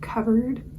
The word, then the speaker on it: KVRD: They're called Covered, but it's spelled KVRD.